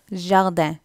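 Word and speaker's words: jardin: So first word வந்து ஜார்டன், ஜார்டன் தான் தோட்டம், கார்டன். கடைசியில் வர அந்த ஐ என்ன ப்ரொனவுன்ஸ் பண்ணணும், ஸோ ஜார்டன்.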